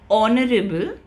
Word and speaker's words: honorable: Then we have an for all vowel sounds and exceptions could be uh the word honest and honorable. Okay. Where the sound of h is not pronounced.